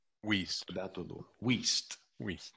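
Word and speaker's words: Wuest: It's from, I'm not sure I will pronounce this correctly, but it's from Wurst's World Studies. Wiest.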